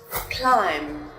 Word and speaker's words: climb: The letter B will not be pronounced when it comes after the letter M. For example, climb, dumb.